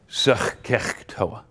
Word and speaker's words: SOHCAHTOA: It took me like 5 minutes to figure out I left out the H's. So ever since then, I give it the guttural pronunciation, SOHCAHTOA, okay?